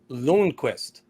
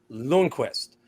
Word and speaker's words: Lundqvist: First off, I just want to say it's pronounced Lundqvist. Lundqvist. And I know that name carries some weight around here if you pronounce it a different way.